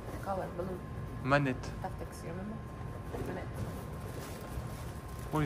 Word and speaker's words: Monet: Or Manet, if you want. Since Russia pronounces O like A's, Manet. Yes, I read all letters what I see.